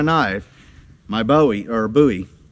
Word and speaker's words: Bowie: my Bowie or a Bowie I keep pronouncing my Bowie incorrectly is Bowie you know David Bowie Jim Bowie so yeah it's Bowie